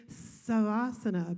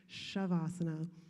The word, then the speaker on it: Shavasana: and some instructors say savasana but final resting pose should not sound like the hissing of a snake it's pronounced shavasana and this ubiquitous term